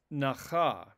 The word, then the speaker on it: nacha: Note the stress on the first syllable is a third feminine singular suffix conjugation of the root nun chet he. Now, this form is analyzed in the lexica as of the root nun chet he, nun chet he, but it functions as a feminine singular verb, as indicated by the retraction of stress to the first syllable. It is nacha, not nacha.